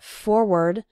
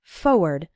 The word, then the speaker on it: forward: Now, some people pronounce it forward, and some people pronounce it more like forward. But when you're writing it, you need to include the R, F-O-R-W-A-R-D. Again, when speaking fast, we sometimes say it like forward, as if there wasn't that first R, but you need to